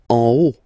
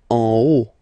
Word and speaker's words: en haut: En haut. En haut. Okay, final T not pronounced, and then this H as previously, you don't pronounce it, so this is O.